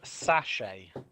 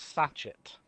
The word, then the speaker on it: sachet: It's pronounced sachet, not sachet. Sachet. Sachet. Sachet is kind of Sachet. like a dance or a move. No. It's pronounced sachet. Rhymes with to pay.